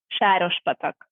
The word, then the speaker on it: Sárospatak: And I don't know how to pronounce it. It's Sarospatak. Sárospatak. Okay, that's how you say it.